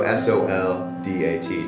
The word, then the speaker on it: soldat: So s o l d a t to soldat . Yeah . So in French they often don't pronounce the last letter or the last few letters .